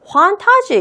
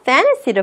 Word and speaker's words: fantasy: 판타지 이렇게 발음하는 게 아니라 fantasy를 발음을 합니다.